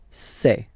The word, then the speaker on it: c'est: And for the plural, c'est. Really open this c'est.